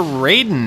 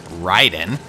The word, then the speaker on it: Raiden: But yeah, we're Raiden now, as I always pronounced it, but I guess it's officially Raiden.